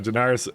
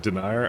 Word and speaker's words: Daenerys: rebuilding that thing so Daenerys uh is not pronounced like denier I know but you